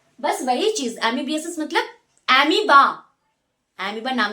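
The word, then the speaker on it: amoeba: बिगाड़ दिए थे तो अमोए नहीं बेटा वो अमीबा है पर फिर भी स्पेलिंग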